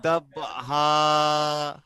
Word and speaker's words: ضبحا: ওয়াল আদিয়াতি দাবহা মাশাআল্লাহ, ফাল এক মিনিট, মুরিয়াতি কদহা। একটা একটা আয়াত। প্রথম আয়াতটি আরো একবার পড়েন। ওয়াল আদিয়াতি দাবহা।